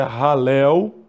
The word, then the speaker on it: halel: O certo é halel, Yah. Mas a gente coloca aqui o halelu, Yah.